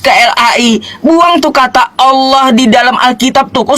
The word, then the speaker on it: Allah: Udah betul bahasa Arabnya Allah. Lalu kalian ubah Alah. Sebagaimana kau tadi bacanya Inggris one, maka di Indonesia pun akan mengikuti bahasanya one. Diejanya one kan gitu. Ah, kalau bahasa Arabnya aslinya adalah Allah, ngapain kau ubah-ubah Allah?